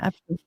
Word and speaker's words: Abke: How do you pronounce Abke. it? Abke. Well, Abke. the Germans say it Abke.